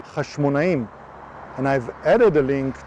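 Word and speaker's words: חשמונאים: There is no doubt today that Emmaus, which became famous in the battle of the Jewish dynasty named Hasmoneans, which in Hebrew pronounced Hashmonaim, and I've added a link to the video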